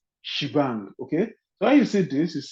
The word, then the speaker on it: shebang: As Shivan Okay, this ash exclamation is pronounced as shebang.